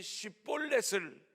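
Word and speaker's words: שיבולת: 에브라임 사람들은 쉿볼렛을 발음하지 못하고 십볼렛 이랬어요.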